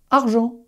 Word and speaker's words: argent: Comment est-ce que tu vas prononcer ce mot? G-E, son je, argent.